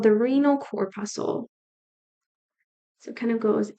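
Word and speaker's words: corpuscle: is called the renal cor pusle cor pusle is spelled kind of like how muscle is Reno cor pusle rhymes with muscle and it's spelled the same the Reno cor pusle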